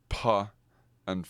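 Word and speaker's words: φ: B, p, and fa, which fa is actually not, we talked about this, is not actually how it's pronounced in ancient Greek. Fa was actually pronounced pa with sorry about all the plosives on the microphone, but with an aspirated p, basically.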